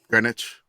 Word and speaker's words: Greenwich: Greenwich. The green, right? Mhm. It's in there. They are. They It is the Greenwich. It's not pronounced green.